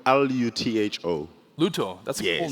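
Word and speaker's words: Lutho: All right, so my name is Luto, and I'm a... How do you spell that, sorry? Luto, L-U-T-H-O. Luto.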